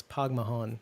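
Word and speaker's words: póg mo thóin: spell that right Thomas it's pogmahon and it's like let's go yourself essentially in Irish anyway uh yeah I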